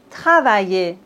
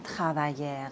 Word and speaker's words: travailler: Quand on a ER à la fin des mots, on ne prononce pas le R, comme par exemple parler, on ne dit pas parler, non. Travailler, on ne dit pas travailler, non.